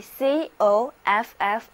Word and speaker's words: coffee: 读音节中读 e，所以 coffee 应该这样来念 coffee coffee。